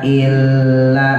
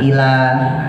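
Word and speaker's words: إلا: Nah, maka kita mulai dari wama widul kafirina illa. Hati-hati lamnya tasdid illa jangan ilahah. Jangan digentak illa fi dolal donya gembungin lalnya mad arif sukun diwakaqfin 5 sampai 6 ya.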